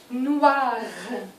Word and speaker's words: noir: au lieu de noir il faut bien prononcer le r final un jeune noir pas noir parce que qu'est-ce que